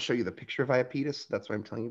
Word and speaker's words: Iapetus: you the picture of iopetus that's why i'm telling you about it or iapetus i hope i'm saying this right they have the pronunciation there iapetus is probably how i should have said it look at this